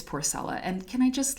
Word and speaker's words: Porcella: say her name because i thought it was porcela but it's porcelain and can i just like just just look